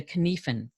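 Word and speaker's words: Cynefin: in decision making is the kenefin framework and if i don't pronounce that right then i apologize it's a very unusual word it's a welsh word for habitat and these five dimensions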